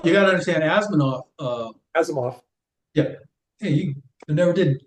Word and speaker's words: Asimov: Asimov. Yeah, hey, I never did pronounce it correctly.